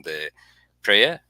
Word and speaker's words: de Peyret: I have an esteemed guest, de Peyret. Is that correct? Have I You can pronounce it De Peyret.